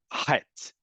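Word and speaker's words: ח: The letter chet originally was pronounced as he. That was considered too difficult to pronounce by particularly older Ashkenazi immigrants to what was then emerging as into the Yishuv. And it became acceptable to say it like the letter chaf.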